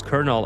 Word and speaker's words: colonel: And again, I always use kernel and as an example, like who who decided that that's that's how it's pronounced? It should be like Colonel or something, right?